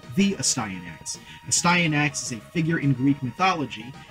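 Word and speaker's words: Astyanax: why I know that this next name is pronounced a sty enacts a sty in acts used to be an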